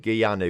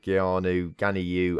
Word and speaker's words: Ganiu: Bird and Gianu, or whatever he's called. Ganiu. I always say it wrong because I see like the Y and the I next to each other.